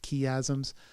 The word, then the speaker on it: chiasm: plenty and seven famine we've talked about chiasm sometimes pronounced ki Azam's and these are patterns